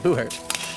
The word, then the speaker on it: Buhurt: weapons and we participate in a sport called Booher uh that's spelled b u h u r t and